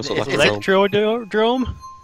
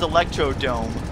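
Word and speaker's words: Electrodrome: the truth and then tell me how it's pronounced once you see it there you go no I always saw electrode room yes you actually got it right I was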